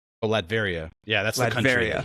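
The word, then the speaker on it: Latveria: What is the How do you pronounce the the trait? I don't Vlad. Oh, Ladveria.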